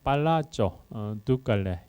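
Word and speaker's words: Palazzo Ducale: 이탈리아 말로 발음하면 팔라조, 두칼레 이렇게 부릅니다.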